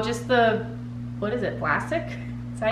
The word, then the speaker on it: Vlasic: So just the, what is it, Vlasic? Is that how you say it? Vlasky? Oh, I can't see. Vlasic? Oh, Vlasic, yeah.